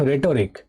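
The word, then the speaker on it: rhetoric: okay next full of रेटोरिक रेटोरिक माने की अलंकार देखो आर एच ई टी ओ आर आई सी रेटोरिक बोलो ना एकने एच उच्चारण साइलेंट थके एच उच्चारण होय ना रेटोरिक आर एच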